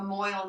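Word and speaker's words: mohel: hey a mile near me actually try a Moyle near me oh it's giving them all hold on yeah you gotta spell it yeah m-o-h-e-l m-o this is gonna be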